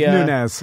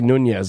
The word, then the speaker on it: Nunes: It's Nunes. Yeah, Nunes. I want to say Nunes. I think I think I've only said it right. And then I heard you say Nunez, and I changed it.